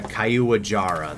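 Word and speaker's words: Caiuajara: Yeah, Kaiuajara, that's how you say it.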